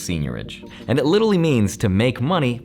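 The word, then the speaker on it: seigniorage: nothing to do with the word that i can't pronounce psych norwich no it's pronounced senorage nope just kidding it's pronounced senior ridge and it literally means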